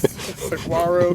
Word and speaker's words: saguaro: there is a woodpecker that lives in this saguaro cactus. I never can pronounce that.